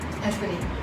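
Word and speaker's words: Espadín: And this is pronounced Espadine? Espadine.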